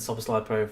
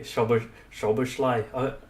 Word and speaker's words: Szoboszlai: excited to watch McAllister and Szoboszlai play for us.